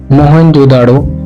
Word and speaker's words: मोहनजोदड़ो: मोहनजोदड़ो शब्द का सही उच्चारण है मोहनजोदड़ो और सिंध भाषा में